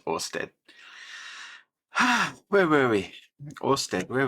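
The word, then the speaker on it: Oersted: So, it's pronounced simply Orstead. There you go. It's Orstead.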